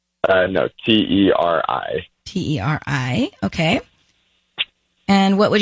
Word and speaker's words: Teri: How do you say Terre? No, Teri.